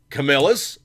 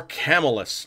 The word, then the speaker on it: Camillus: And there is, you know, the several ways of pronouncing it. You could say Camillus or Camillus. I've heard it both ways. Personally, I tend to think it's more Camillus.